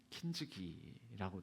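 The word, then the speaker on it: 金継ぎ: 그래서 그 금간 부위를 금치를 한다고 해서 그게에 일본 발음으로는 킨즈기라고 됩니다.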